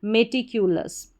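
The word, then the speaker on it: meticulous: पूरा LOUS लस, क्योंकि OUS को अस पढ़ते हैं, इसमें ल जुड़ गया तो लस करके इसका उच्चारण हो जाएगा। फिर से देखिए ME में, TITCUQLOUS को आप पढ़ेंगे लस, मेटिक्यूलस।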